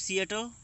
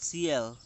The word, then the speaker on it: Seattle: Chief Seattle, and now you look at the pronunciation. We speak Seattle, but in some regions it is called CL, not Seattle.